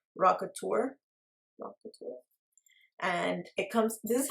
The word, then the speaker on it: Rockateur: I think this is pronounced Rockateur.